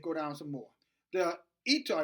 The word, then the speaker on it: Eutaw: The Eutaw, it's spelled E-U-T-A-W massacre.